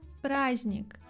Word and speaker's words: праздник: масленице Масленица - это праздник праздник мы не произносим д в этом слове существительное праздник глагол праздновать